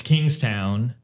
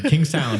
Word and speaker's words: Kingstown: got the capital it's Kingstown not to be confused with Kingston Jamaica Jama but it's kingst